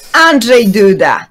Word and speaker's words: Andrzej Duda: Andrzej Duda? Am I getting that right? Close enough? Andrzej Duda, technically. Yeah. But close enough. Andrei would be the Russian version of the name, and Duda is Duda.